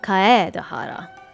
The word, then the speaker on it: Kaedehara: the police station since kaedehara has come back to inazuma those items should be returned to their rightful owner i much prefer the way she's pronouncing his surname kaye dahara no i'm afraid